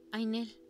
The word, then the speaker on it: Nell: Se pronuncia Ainel.